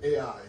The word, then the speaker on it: Ai: in Vietnam, we pronounce I. Voilà, au Vietnam, on dit Ai, on le prononce comme ça.